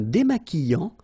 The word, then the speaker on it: démaquillant: So we've got this QU, but then U is not pronounced. So you get the sound qui. Okay, and then remember, double L after E will give you the sound y. Démaquillant. Final T not pronounced. Démaquillant. Okay, and this is nasal in your nose.